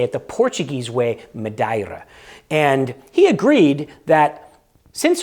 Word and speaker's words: Madeira: have always called Madeira um but it is pronounced by the Portuguese medira madira you have to say it with a little